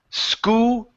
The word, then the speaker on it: school: word school ok so at the end you're pronouncing it who sang school ok it's school Oh so we need